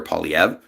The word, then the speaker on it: Poilievre: The only federal government that actually spoke openly in support of Israel was Stephen Harper's, Pierre Poilievre, and I am pronouncing it properly, making the same assertions.